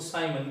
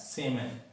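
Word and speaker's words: siemens: Generally students जो है इसको साइमन भी पढ़ते हैं, साइमन, साइमन, जबकि शुद्ध उच्चारण इसका होता है सेमन, राइट।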